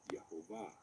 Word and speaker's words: Yahvah: So for the purposes of this video, we are going to use the V sound because that is what is used in the pronunciation Yahvah.